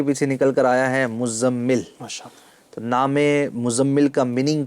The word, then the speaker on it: مزمل: اچھا سب سے پہلے تو میں تلفظ بتا دوں، اور کچھ لوگ اس کو بولتے ہیں مزمل. عام طور پر آپ سنو گے نا لوگوں سے تو کہتے ہیں مزمل بھائی، مزمل. ٹھیک ہے، تو مزمل نام نہیں ہے اصل میں، زا اور میم